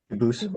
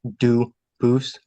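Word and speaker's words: Dubuisson: They do pronounce it dubis, but you said you pronounce it dus as the original duboose as the original French.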